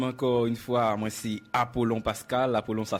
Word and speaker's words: Apollon: Bon, moi-même, encore une fois, moi, c'est Apollon Pascal. Apollon, ça s'écrit avec 2 L.